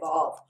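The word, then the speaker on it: וו: going to say, hey, you're wrong if you say vav, or you're right if you say wow. No, I'm just going to say wow is more antiquated. Vav is perfectly fine to use.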